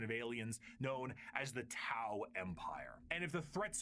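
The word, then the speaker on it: T'au: Because in the subtitles it said T AO, which is normally pronounced Dao when I see it. It's Tao as in T Au like the Greek letter.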